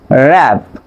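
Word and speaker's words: wrap: For example খেয়াল করেন এখানে রিং, র্যাপ, রেক। বাট কিন্তু আপনি কি করবেন, ডব্লিউ এর উচ্চারণ সাইলেন্ট রাখবেন। ডব্লিউ এর উচ্চারণ হবে না, বাট আর এর উচ্চারণ হবে।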